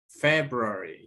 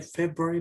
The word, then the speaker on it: February: The second one, February, yeah. Remember, February. Se lee February, pero no se escribe igual, ¿sí? Esta parte prácticamente no se escucha cuando se lee.